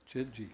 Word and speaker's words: Chidji: Okay, just like it's spelled, Chidji.